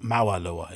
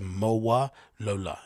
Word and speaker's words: Mowalola: a brand name it's MOA Lola isn't it it's not mawalua it's MOA Lola right yes she was the